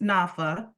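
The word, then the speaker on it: NFHA: The National Fair Housing Alliance, pronounced NAFA, is the country's only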